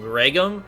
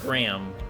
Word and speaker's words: Graham: being stolen Graham I I said his name wrong the first time I did a play through of this I call him gream which is no extra G in his name but it's just Graham all right we're moving